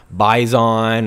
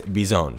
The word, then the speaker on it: Bizon: bison and it's called bizone it's not bison or bizon or anything like that it's bizone so keep that in